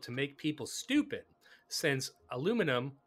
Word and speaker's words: aluminium: And also, chemtrails are flown all over the world to make people stupid, since aluminum, or aluminium, as the Brits say, is hazardous to the human brain.